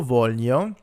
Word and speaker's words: voglio: We have io voglio, tu vuoi, lui vuole, noi vogliamo, voi volete, loro vogliono. And here, remember, we're not actually pronouncing the G's. It's part of another kind of y sound.